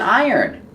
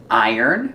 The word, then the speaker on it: iron: Yes, there's an iron. We have an iron. Remember pronunciation iron. It has the sound like tire and fire and drier.